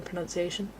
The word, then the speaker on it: pronunciation: There's no O in pronunciation.